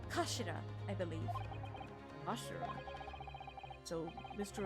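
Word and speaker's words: 頭: end of the hilt it's written as head in Japanese but it's pronounced as Kashira I believe Kash so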